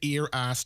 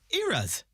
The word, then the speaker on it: Eras: There's now, when I read the name of this, right, I'm reading it as the Ear Ass Tour. Yeah. Well, now, what's going on there? Well, I'm obviously pronouncing that wrong.